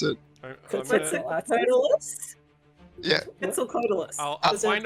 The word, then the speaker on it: Quetzalcoatlus: is how you pronounce it. Quetzalcoatlus?